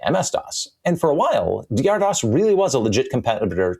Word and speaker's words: DR-DOS: the pre-Windows 95 era, that being DR-DOS, not Dr. DOS, it's pronounced DR-DOS, from Digital Research, the